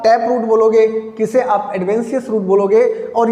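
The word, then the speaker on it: adventitious: अब आप प्रोनाउंसिएशन गलत मत करिएगा, एडवेंटिशियस लिखा हुआ है ना, एडवेंटिशियस नहीं है, दैट इज एडवेंशियस।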